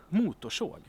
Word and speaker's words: motorsåg: Chainsaw is motorsåg. Motorsåg. And here we have more than 2 Motorsåg.